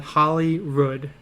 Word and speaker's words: Holyrood: 20 minutes away called Holyrood. Like the W is an R. I don't know how to pronounce it. Not Hollywood, like Rood.